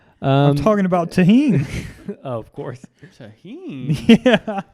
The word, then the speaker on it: tahini: They said, "Have you guys tried this tagine?" Yeah. They did. They mispronounced it.